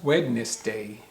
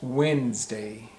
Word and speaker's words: Wednesday: So you would think it would be pronounced Wednesday, Wednesday, but it's not. It's pronounced Wednesday, Wednesday. So the spelling seems like it would be W-E-N-D S-A-Y, Wednesday.